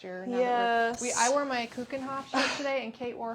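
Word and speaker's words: Keukenhof: Like David Hasselhoff. David Hasselhoff. Kuchenhof. Yeah. It's like that.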